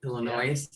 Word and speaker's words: Illinois: the most is illinois illinois is that the correct way to say it illinois illinois little noise a little noise let's give some illinois